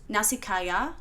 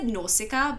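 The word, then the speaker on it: Nausicaä: animating the anime next nasikaya I believe I use I've always said norsika but I believe I'm completely wrong and it's actually like nasika I've been saying it wrong the whole entire time but nasika of the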